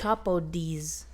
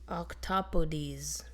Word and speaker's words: octopodes: Octopodes. Octopodes. Right there. Oh, is that's how you say it? Octopodes. Octopodes is the correct plural of octopus. Dang, it's not octopi.